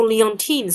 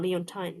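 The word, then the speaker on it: Leontyne: Oh, an American singer born Oh, how do you pronounce it? Oh, Leontine. Sorry, not Leonine.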